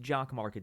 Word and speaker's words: Jock MKT: j-o-c-k-m-k-t Dot online so it's pronounced jock Market down online but it's